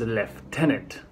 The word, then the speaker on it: lieutenant: next up Tony explained why summon UK pronounce lieutenant as left tenant view and V used